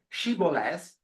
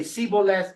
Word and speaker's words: shibboleth: They knew that there was a word, shibboleth, in Aramaic or Old Hebrew that their enemies could not correctly pronounce. They would say siboleth, whatever.